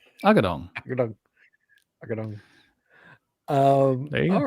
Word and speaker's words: Agudong: How do you pronounce that? Agudong. Agudong. Agudong.